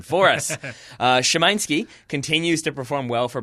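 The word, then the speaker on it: Szymański: Chesky there we go Noah Chesky scouting Sebastian Shimon ski 19-year old polish midfielder for Legia Warsaw if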